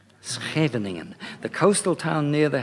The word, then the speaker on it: Scheveningen: It's got ngens in it, a sort of thing, but it's Scheveningen. Scheveningen, the coastal town near The Hague. I have to apologize for my pronunciation and the defects in it, because getting it right is clearly so hard for foreigners.